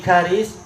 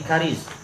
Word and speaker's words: Karis: Anna Aba Sa'id maula Amir bin Karis, bukan Quraisy tapi Karis. Sebagaimana kata para ulama, untuk ini cara bacanya adalah wazan fa'il, Karis.